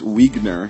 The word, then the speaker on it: Wiegner: That's from our friend Bruce Wiegner. He said his last name is pronounced like Wiener, but with a G.